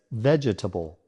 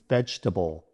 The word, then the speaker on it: vegetable: Many people mistakenly add an extra syllable, pronouncing it as vegetable. However, the correct pronunciation is vegetable with only 3 syllables. The middle syllable, t, uses a relaxed sound called the schwa. It's the most common sound in English and makes the word smoother to say. Let's break it down. Veg rhymes with edge. T, a quick sound called the schwa. Bull, like in bull. Combine them, vegetable.